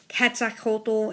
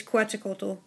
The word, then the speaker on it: Quetzalcoatl: Like on the Quetzalcoatl, you guys are saying it's Quetzalcoatl or Quetzacoatl. It's Quetzalcoatl. I know it's Scythe Kronos, I say Scythe Kronos, it's easier for me to remember.